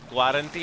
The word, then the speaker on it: guarantee: I saw the Spanish lady trying to pronounce guarantee and she was like, guarantee, and I was like, just ignore the U.